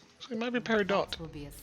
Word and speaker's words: Peridot: T is pronounced in Peridot. Okay, cool.